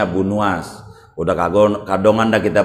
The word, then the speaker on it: Abu Nuwas: Nih orang kita sebut Abu Nawas, yang benarnya bacanya Abu Nuwas.